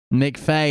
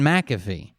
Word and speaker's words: McAfee: they from mcfay oregon mcfay is not how you say it either it's john mcafee talk a little bit